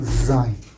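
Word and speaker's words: ז: Tienes que hacer sonar la lengua, tienen que ir en medio de los dientes para poder hacer el sonido. Zzz. ¿Te das cuenta? Zzz. Y de esta manera entonces se pronuncia la letra Zain.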